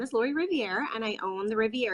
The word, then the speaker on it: Riviere: Your last name is Riviere, correct? Am I saying it right? Well, I'll answer to anything, but it's pronounced Riviere, like with a Riviere, silent E at the end. Yeah. Riviere.